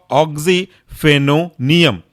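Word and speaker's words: oxyphenonium: दूसरा है आपका ऑक्सीफेनोनियम, टूटेगा कैसे? ऑक्सी, OXY, ऑक्सीफेनो, PHENO, फेनो और आखिरी बचा आपका नियम, NIUM, कुल मिलाकर के बन गया ऑक्सीफेनोनियम।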